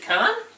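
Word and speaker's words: Cannes: Carl Khan is it con think it's got that you don't pronounce the S on the end because it's French the tube they're too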